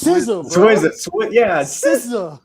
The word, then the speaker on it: SZA: Did you call her Skizza on IG? You said I don't know how to pronounce her name. Swizza? Yeah. It's SZA, bro.